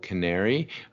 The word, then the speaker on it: Qnary: Uh yeah, I'm the founder and chairman of a company called Canary. Uh we smell we spell it horribly with a Q. So, Q N A R Y.